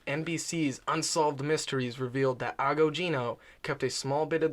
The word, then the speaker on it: Agogino: His name is George Agogino. Agogino? It's like ago, like a long time ago. Okay. And then Gino.